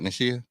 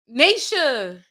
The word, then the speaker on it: Nisha: did I say it right? Nishia? Nisha. Nisha.